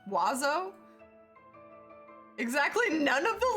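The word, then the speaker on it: oiseaux: In French, the word for birds is that, which is pronounced wazo.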